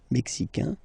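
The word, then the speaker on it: Mexique: mexan here like we had in America n Mexican and then Mexican Mex brail bra Brazil like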